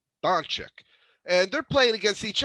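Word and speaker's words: Dončić: Doncic, and they're playing against each other.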